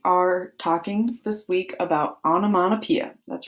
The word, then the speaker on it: onomatopoeia: All right, fifth grade, we are talking this week about onomatopoeia.